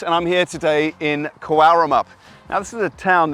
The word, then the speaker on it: Cowaramup: I'm and I'm here today in Karamup.